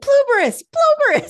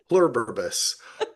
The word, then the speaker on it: Pluribus: brings it up, and I'm like, Pluberus, and I'm yelling at it. It's not giving me anything. And my husband's like, I think you're saying it wrong. Nice. Pluribus.